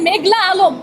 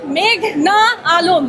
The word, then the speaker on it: মেঘনা আলম: মেঘলা আলম আদালতে এসে শুনি পিপি বলছেন মেঘলা আলম আমার নাম মেঘনা আলম বাংলাদেশ একটা সুন্দর দেশ